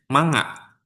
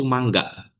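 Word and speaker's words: 漫画: sekalipun ini tuh kata ini tuh dibacanya manga. Padahal yang betulnya itu mangga. Mangga yang misalnya seperti kita menyebut buah mangga atau mangga dalam bahasa Sunda ya.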